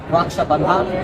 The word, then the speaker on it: Raksha Bandhan: I thought that, sorry if my pronunciation is wrong, Raksha Bandhan?